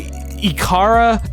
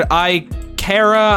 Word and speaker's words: Ikara: don't even think there's a proper way to pronounce it. I say Ikara, but I've heard Ikara, I've heard Ikara.